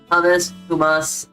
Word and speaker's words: hummus: Hummus, Hold on, let me look it up real quick so we can get a good, how to pronounce it's hummus.